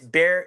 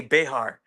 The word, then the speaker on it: Bexar: Like Wait, it looks like it would say Bexar. Bexar. Yeah. Right. People get that confused. It's Bear. It's people here pronounce it Bear County.